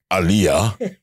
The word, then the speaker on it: Alia: Everybody, any one of you out there who do work closely with Alia, it is pronounced as Alia.